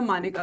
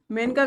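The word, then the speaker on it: Maneka: गोपालन वाद हो या मानेका गांधी मानेका, मेनका गांधी आप इसको पढ़ते होंगे, लेकिन रियल जो प्रोनाउंसिएशन है ये मानेका गांधी ही है।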